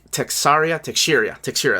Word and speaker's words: Teixeira: Of course, Bill Sienkiewicz, Mark Teixeira, that's how you say it.